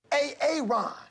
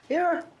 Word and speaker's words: Aaron: A Aon. Aaron. Why didn't you say it the first time I said a Aon? Because it's pronounced Aaron.